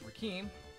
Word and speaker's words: Rakeem: again by the way my name is pronounced rakim it's a strange name i'm actually named after the rapper oh rock him rock